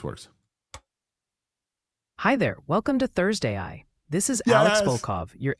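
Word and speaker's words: ThursdAI: prompt it we can say Thurs AI is pronounced like THS a i let's see if this works hi there welcome to Thursday I this is Alex bov your AI evangelist for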